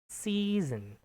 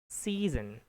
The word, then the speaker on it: season: that s totally s it sounds like a little Z season. Season that would be the natural English.